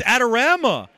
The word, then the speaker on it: Adorama: know is it Adorama orama how do you pronounce Adama it's Adorama I've been saying it wrong no you're wrong